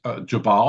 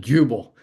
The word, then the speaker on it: Jubal: And as we dive into this story, who is Jabal?